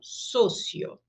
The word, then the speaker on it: socio: Para a gente ver um exemplo, a palavra sócio, em português o O é aberto, só, em espanhol, sempre fechado, socio.